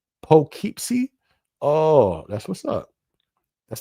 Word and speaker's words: Poughkeepsie: It's pronounced Poughkeepsie.